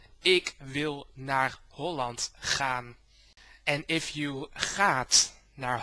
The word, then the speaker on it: Ik wil naar Holland gaan: First of all, the title of your video is pronounced Ik wil naar Holland gaan.